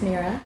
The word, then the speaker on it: Mirah: Mirah, pronounced Mirah.